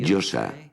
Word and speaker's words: Yose: La Yo, la A, que se pronuncia así, Yosa.